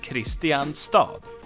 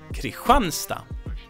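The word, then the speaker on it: Kristinehamn: the name that makes sense it's Christians City Christian stop but we pronounce this Creek run stop and I guess it's due to dialects and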